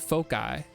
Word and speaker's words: foci: And you would have to pronounce it foci. Yeah. I mean, Fosse wouldn't make sense.